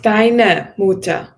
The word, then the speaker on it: deiner Mutter: Yes, make sure this R is kind of pronounced. I know you thought about it, but this R, German R is tricky, but this one you need to pronounce. Deiner Mutter. Or what you can also do is you make it slightly like letter A, deiner.